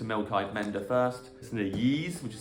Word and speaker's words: Ys: Listen to Yeez, which is spelled Y-S.